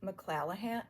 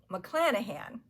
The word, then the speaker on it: McClanahan: the winner was Edith McClanahan. Well, I keep saying it wrong. McClanahan.